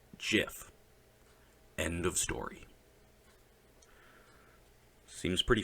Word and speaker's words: GIF: the real answer is jiff Steve Wilhite created it and therefore he named it the Oxford English Dictionary accepts both pronunciations Wilhite said they are wrong it is a soft G pronounced jiff end of story seems